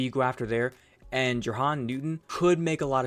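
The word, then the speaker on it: Jer'Zhan: I would take Jahan Newton in a heartbeat. Jerzon, I think is how you say it.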